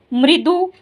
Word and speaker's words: मृदु: उसकी वाणी मृदु थी। अब देखो यह क्या लिखा है। म को री मृ द को उ दु मृदु मृदु मतलब मीठी उसकी वाणी मृदु थी।